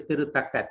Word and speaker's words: Tirutaka: And we write Tirutaka in Tamil, TH, but actually it is Tirutaka. Tamil people may note when you write, you don't have to put the H there.